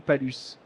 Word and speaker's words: Palus: Bonjour, La corderie Palus. On dit Palus ou Palus?